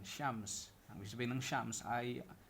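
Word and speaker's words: شمس: Minsan pinupronounce sila ng shems. Shems. Kasi parang yung parang Pero pag nilagyan natin ng fatha doon, yan yung pinaka transliteration. Shams.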